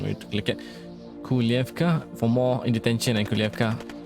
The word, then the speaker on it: Kujlevka: No, the spelling is Kujlevka, but I think the pronunciation might be different. I think the J sounds a bit like Y. Kujlevka.